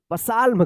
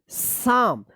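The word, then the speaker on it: psalm: पसाल्म। पसाल्म गलत हो जाएगा। इसको पढ़ेंगे साम। अब यहां पे जो है ना एल साइलेंट है और यहां पे पी साइलेंट है।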